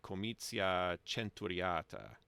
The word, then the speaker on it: comitia centuriata: So in church Latin, it would be comitia centuriata. It would do a ch there. So as far as 99% of English speakers today are aware, it's either comitia centuriata or comitia centuriata.